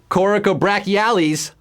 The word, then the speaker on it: coracobrachialis: Coracobrachialis, levator scapulae, or rhomboid minor? I'm earning my money tonight with these words, folks.